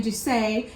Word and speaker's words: Duse: Fun fact, Americans inadvertently coined the term doozy. The mispronunciation of the Italian Duse now means something outstanding and thoroughly unique.